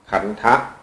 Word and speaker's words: ขันธ์: เี่ แปล ว่า กอง เขียน ข ไข่ แม อากาศ น หนู ทหาร สะกด ด้วย กะ เ เรียก ว่า ขัน ขันธะ ถ้า สะกด กันัน ปุ๊บ ก็ จะ อ่าน ว่า ขันธ์ เฉย ๆ แปล ว่า กอง กอง